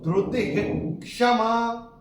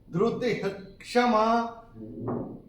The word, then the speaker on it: धृतिः क्षमा: तो विसर्ग के बाद जब क या ख आता है तो विसर्ग का उच्चारण होता है ह, तो इसका जो उच्चारण होगा वो होगा ह।